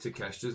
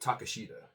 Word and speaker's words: Takeshita: It's kind of weird because every time when I write down Konosuke Takeshita's name, his last name it's spelled like Takeshita, but it's Takeshita.